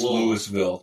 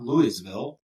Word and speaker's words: Louisville: It's Louisville. But it's LOL. If you don't, it's Lewisville. Yeah.